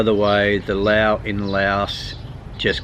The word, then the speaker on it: Laos: By the way, the Lao in Laos just call themselves Lao, not Laotian. And Laos is pronounced Lao.